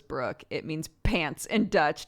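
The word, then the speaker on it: broek: cat named brook b-r-o-e-k pronounced as brook it means pants and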